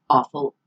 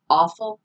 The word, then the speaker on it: offal: Interestingly, now, offal is coming back into fashion. And by the way, offal is the American pronunciation, accepted American pronunciation. Offal is the accepted British pronunciation. So either one's right.